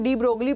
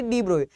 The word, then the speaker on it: de Broglie: डी ब्रोए को भी, basically इनका नाम डी ब्रोगली पढ़ते हैं लेकिन इनका नाम था सिर्फ डी ब्रोए, इनकी प्रोनाउंसिएशन थी डी ब्रोए, तो हमारे डी ब्रोए